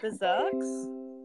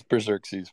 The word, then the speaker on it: Berxerxes: ] up your name is it berserks does that yeah tell me how to say it it's berxerxes but you were pretty close my question is